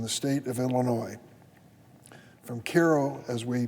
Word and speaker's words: Cairo: 102 counties in the state of Illinois from Cairo as we pronounce it all the way to Chicago even